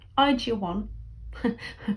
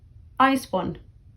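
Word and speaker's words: IZ*ONE: yes it is i cheer one which is the korean pronunciation of the group i spawn is what most people say i've just i've always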